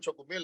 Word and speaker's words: chocomil: The reason we call them chocomil in Mexico, we cannot pronounce choco milk. Oh. And we say chocomil.